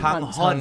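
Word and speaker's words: Sang Heon: Sanghon.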